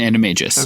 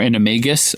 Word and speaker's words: animagus: She's an animagus. Okay. Or animagus. I've heard it pronounced both ways.